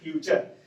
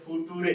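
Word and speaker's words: future: तो क्या पढ़ेंगे चल, इसको क्या पढ़ते हैं फ्यूचर। कितने बच्चे नहीं समझ में आते तो इसको क्या पढ़ देते हैं फुटूरे, क्या पढ़ देते हैं फुटूरे, इसको क्या पढ़ते हैं नटूरे।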